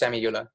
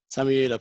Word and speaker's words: Samiullah: This week, I'm delighted to be joined by Samiullah. I'm so bad with pronunciations. Have I got that correct? Very close, yeah. I'm Samiullah. Samiullah, perfect.